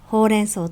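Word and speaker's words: ほうれんそう: 発音はほうれん草と一緒です。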